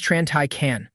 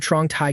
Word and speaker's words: Tran Tai: My name is Tran Tai. The guy nodded, but deliberately said it wrong. "Yes, Mr. Trong Tai can.